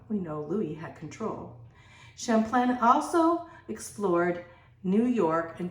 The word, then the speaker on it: Champlain: of all Samuel de Champlain um Samuel was the father of New France uh you could say his name Champlain that's the way we would say is English but Champlain was his his French he found he founded